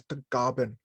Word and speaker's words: Tagaban: In the Philippines, is pronounced as Tagaban.